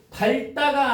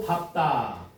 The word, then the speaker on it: 밟다: 밟다가 아니고 밟다.